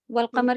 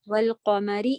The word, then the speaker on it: والقمر: واو فتح لام سکون، بیچ کے آپ یہ ساری چیزیں اسکپ کریں گی، حمزۃ الوصل نہیں بولیں گی، ایسے.